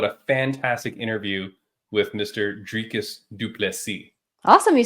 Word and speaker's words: Dricus du Plessis: back rain what a fantastic interview with Mr drus dupi awesome you said it right dricus dupy yeah anyone who wants to know how to pronounce his name talk to me message me